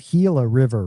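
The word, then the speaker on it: Gila River: You pronounce this Hila River, right? Yeah. Yeah. It's a lot of people will pronounce that wrong, but as in the Hila monster lizard, correct?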